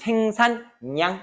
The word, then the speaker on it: 생산량: 그래서 생산을 살려서 발음하는 거지. 그래서 생산냥 이렇게 발음하게 되는 거.